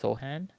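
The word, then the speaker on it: Sochan: will probably be Maan uh you said it's pronounced soan so soan yep okay uh the SE silent okay I'd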